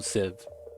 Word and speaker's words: Civ: I thought it's pronounced sieve, but C-I-V is also sieve. So if you play Civilization, it's called Civ, right?